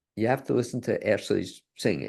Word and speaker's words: Ashleigh: It's again, spell it Ashleigh, ASHleigh. It's like Raleigh, but just ASH in the beginning.